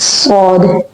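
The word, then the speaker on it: ص: This is the shape and the name is sword. Okay. Now sound of sword is basically just like the whistling sound as in scene but it is more deeper and stronger than the letter C.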